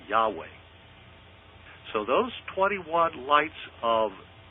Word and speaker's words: Yahweh: The letter was I, and it was pronounced like a Y.